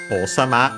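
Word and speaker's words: 王様: Unfortunately, when we attach sama, it becomes unaccented, so be careful. O sama, sama simply, again, the suffix honorific after a person's name, position, and so on.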